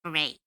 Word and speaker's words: Beret: It's like Beret, like a horse.